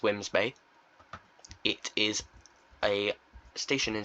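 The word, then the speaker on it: Wemyss Bay: up North this is um the it's called whimsby I know it's spelled when we s May but it's whimsby it is a station in Scotland grade 2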